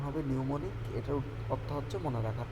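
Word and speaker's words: mnemonic: মনে রাখার কৌশল: ম্যানিমনিক অর্থ হচ্ছে মনে রাখার, নিউমোনিক, এটার উচ্চারণ হবে নিউমোনিক, এটার অর্থ হচ্ছে মনে রাখার কৌশল।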